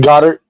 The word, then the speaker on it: Goedert: How are we pronouncing it? Goddard.